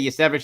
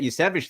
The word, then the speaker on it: Iosivas: I think there's 2 or 3 different ways to say it. I say Yasevich.